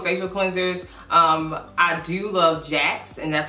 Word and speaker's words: Jacqs: first off with facial cleansers I do love Jax and that's how it's pronounced Jax this is a black oil company as well